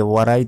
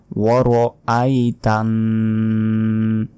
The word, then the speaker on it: وَرَأَيْتَ: এখানেও আমরা অনেকে ভুল বলি যে ওয়ারাই তান্না। ওয়ারাই যদি বলি, দেখুন ওয়ারাই, তাহলে এই যে মাঝখানে যে আলিফের উপর জবর আছে এর উচ্চারণই কিন্তু আমরা করলাম না, তখন আমাদের গুনাহ হবে। বলতে হবে ওয়ার আই, ওয়া জবর ওয়া, র জবর র, ওয়ার, হামজা ইয়া জবর আই, তানুন জবর তান, ওয়ার আই তান, এখানে গুন্না হবে।